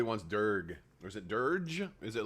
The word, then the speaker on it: Durge: cool that's for sure soft G so durge okay um very cool